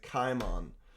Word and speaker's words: Kimon: So, uh you spell this name with a kappa. So we pronounce it Kimon.